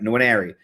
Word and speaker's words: Nwaneri: Nwaneri.